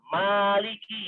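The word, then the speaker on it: ملك: Nah, tapi kalau raja saja, ya, bukan yang merajai, itu adalah Malik. Ya, jangan dipanjangkan mimnya. Contohnya misalnya Anda dikala membaca surat An-Nas, ya Anda harus beda ya panjang pendeknya.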